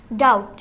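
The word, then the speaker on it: doubt: না তাহলে তোমারটা হবে বিটা সাইলেন্ট ওয়ার্ড এটা সাইলেন্ট ওয়ার্ড তাহলে এটা কি হবে কম কম ও তাহলে ডি ও ইউ বিটি ডাউট ওইটা ডাউটবোর্ড হবে না ডাউট হবে ইন্নালিল্লাহ আস্তাগফিরুল্লাহ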